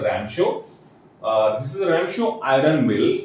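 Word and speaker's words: Ramsjö: रमशो pronounce करेंगे इसको known ऐ रमशो।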